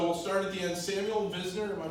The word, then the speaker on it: Samuel Visner: Samuel Visner, am I pronouncing right, Sam?